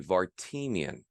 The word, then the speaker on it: Vartanian: his outlook on life, there is another acceptable, allowable pronunciation of his last name, and that would be Vartanian, because through self-expression, he has found that power of collaboration.